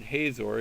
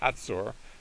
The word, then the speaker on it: Hazor: this time centered from, if I use the English pronunciation, Hazor. If you go to Israel, they'll call it Hatzor. So forgive me if I slip once in a while and use the Hebrew pronunciation.